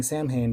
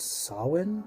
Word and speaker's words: Samhain: have uh beltane and i keep saying samhain but i believe it's actually pronounced sawin um feed the holiday so